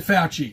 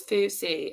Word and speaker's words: Fauci: they told you Dr fauci you if you're not vaccinated this is the name of chi I thought it was fousey if I just I